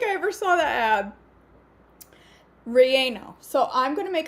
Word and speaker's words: relleno: okay rieno cause i didn't know how to pronounce i had to look it up i had to ask google she says relleno and i've had to look it up about